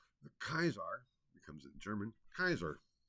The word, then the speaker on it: Caesar: Zar CC a r In classical Latin the pronunciation of a c is a hard C and the AE is